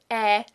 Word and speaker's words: Ä: And if you have trouble forming it from scratch, try sliding into it from pronouncing an e, like in very, very, very, very.